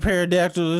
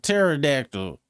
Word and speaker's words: pterodactyl: Ain't nobody else been like, "Oh, it ain't it ain't paradactyl. It's uh pterodactyl."